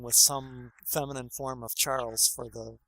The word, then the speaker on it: Charles: It would be Charles, because the S would be silent, the way the French say it.